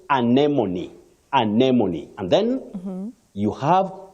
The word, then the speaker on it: anemone: Remember the first word, you can also say anemone, but anemone is the one which is more recognized when you talk about RP, that is received pronunciation.